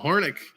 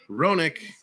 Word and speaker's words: Roenick: was an ugly goal hornick roenick it's a silent h and i keep saying it out loud off the draw comes